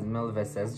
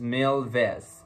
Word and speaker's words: Mil Veces: It is not pronounced as Mil Veces, just like how I was pronouncing it. It is Mil Veces, okay?